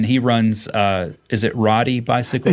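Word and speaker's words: Rhoddi: your son Brian he runs uh is it Rody bicycle it's pronounced Roadie like take on Roadie Road bikers and that's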